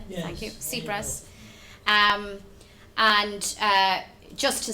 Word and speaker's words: Tsipras: I know this evening we'll hear from a candidate for the presidency of the European Commission, Alexis Tsipras. I've pronounced that correctly? Yes. Thank you. Tsipras.